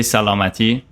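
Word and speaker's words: سلامتی: We say salamati. Salamati. Salamati. There we go. I'm gonna add that to my list. There Okay, you go. beautiful. You can say cheers. You can say salute. You can say salamati.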